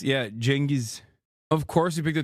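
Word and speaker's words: Genghis: Uh just learned he you pronounce his name Chingis. Yeah. Jenis.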